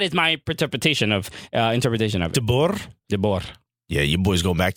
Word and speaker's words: De Boer: So you roll the R.